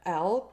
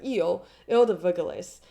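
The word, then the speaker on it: Île des Vergelesses: Hence why they call it the L, like L, the like Eel, sorry, it's pronounced like Eel de Verglis.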